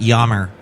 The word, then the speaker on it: Yammer: I call it Yammer because I like the artist Jan Hammer, who did the theme to Miami Vice. That's how I say his name.